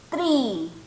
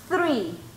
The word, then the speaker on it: three: Muchos de ustedes ahí están diciendo árbol, tree, tree, ¿verdad? Usted debe pronunciar el número 3, three, three, como que los dientitos de arriba, ¿verdad? Pasan rozando su lengua. Three, three, three, three, no tree, tree, tree.